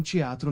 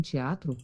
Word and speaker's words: teatro: Ehi, te un teatro. Ehi, temo un teatro. E un teatro. Eh, tanto teatro non è teatro però perché a volte la T si pronuncia C.